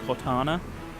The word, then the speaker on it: Cortana: When I listen to it back, it sounds like I'm not saying Cortana, which is the correct way to pronounce it. But it's an accent thing. I'm definitely saying Cortana, but in quick speech, like in a sentence, I don't pronounce it Cortana because I don't have like an American accent.